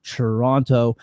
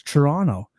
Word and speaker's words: Toronto: I had no idea it was Toronto. No one no one pronounces the T's.